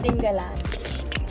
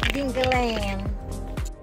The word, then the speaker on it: Dingalan: ding land ding ding the right pronunciation is dingalan dingan not dingang so we have just